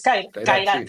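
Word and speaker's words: Kairat: Ahora, vos corregime, Khairat, ¿cómo se pronuncia? Yo creo que es Khairat, pero no, tampoco. No, es Khairat.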